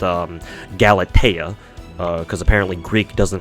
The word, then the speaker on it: Galatea: think so so galate it's a hard T so anyways uh galatea